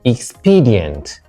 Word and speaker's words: expedient: C, expedient. D, circumstance. So which one is different from the rest? Eulogize, first syllable. Pineapple, first syllable. Expedient, second syllable.